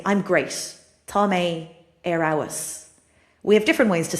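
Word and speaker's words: fheabhas: So, if you're an English speaker, you might be like fee-pus or f-f- a b h us.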